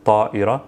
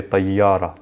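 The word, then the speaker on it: طائرة: So an example, tayyara, of course, in MSA, this is pronounced ta'ira, ta'ira. In spoken or colloquial, we'll say tayyara, tayyara.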